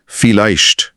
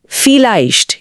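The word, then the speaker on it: vielleicht: इसमें उच्चारण के वो दो नियम एक साथ काम करते हैं जो हमने पहले भी देखे हैं। पहला वी का साउंड एफ जैसा है। और दूसरा आई का साउंड हमेशा आई जैसा होता है।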